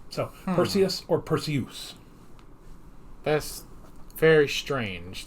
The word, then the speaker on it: Perseus: clash of the titans lawrence olivier as zeus pronounce it as perseus because it rhymes with zeus so perseus or perseus that's very